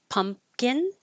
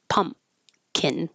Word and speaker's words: pumpkin: Just pumpin. Pumpkin. You can just think of it as a M. No P.